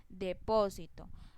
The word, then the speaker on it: depósito: Depósito. La sílaba to es la última sílaba. La sílaba si es la penúltima sílaba y la sílaba po es la antepenúltima sílaba.